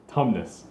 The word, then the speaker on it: Tumnus: Tumnus thank you I had the first syllable I didn't have a laugh syllable Tumnus everyone loves mr.